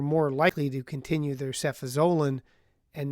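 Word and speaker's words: cefazolin: We've talked by we we mean I about the equivalency of sephosolin or as my pharmacist pronounce it sephaselin and napsylan in the treatment of staff infections.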